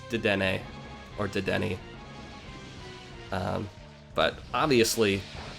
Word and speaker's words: Dedenne: how it's pronounced it it's related to the French pronunciation or the French form of the word antenna and I looked up the anime pronunciation so it's dedenne or did any but